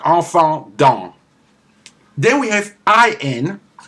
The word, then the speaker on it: enfant: EN, EM, AN, AM, and some combination are pronounced en, like enfant, child. enfant.